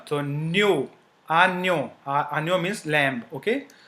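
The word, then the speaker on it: agneau: JN is pronounced as near. Near. Okay. So you do not have to pronounce J, but near, like near. Okay. So near. One example is a new. We break it. I will just break it into. So U is O, as we have learned. So JN is near.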